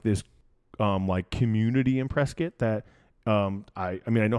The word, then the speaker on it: Prescott: You don't know Prescott, even though Prescott is not Prescott, by the way, guys. It's Prescott. Yep. Even though phonetically that doesn't make any sense at all.